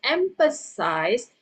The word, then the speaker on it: emphasize: The the ending is not going to be s i s. is gonna be s i z. Okay, that's a verb. Okay, you pronounce it as empasize.